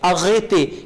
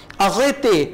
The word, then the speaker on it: arrêtez: e के ऊपर accent mark, इस accent mark को भी आप वही a pronounce करेंगे. arrêtez कैफे वाला जो accent mark है ना वही होगा ये भी. arrêtez रुक जाओ.